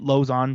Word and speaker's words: Lauzon: just say it correctly say it again lausanne i would i mean lows on jeremy lowe's on but oh lauzon okay that's cool you're not saying lasagna you know what i